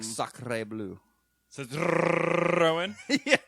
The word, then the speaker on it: Citroën: Citroën. Thank you, Mr. Frenchman, Yeah, for pronouncing that properly.